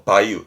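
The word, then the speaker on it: 梅雨: 7월 정도에 내리는 비 그렇습니다 장마를 매우라고 써서 바이유 합니다 바이유 장마에 대한 바이브에 대한 언어 여러가지입니다만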